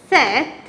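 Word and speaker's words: sept: these number seven set you do not pronounce the P here p is silent therefore you pronounce it as set okay and then number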